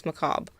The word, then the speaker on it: macabre: No, that's not how you pronounce that. Yeah, then like the brick part is not said. Yeah, it's Macob.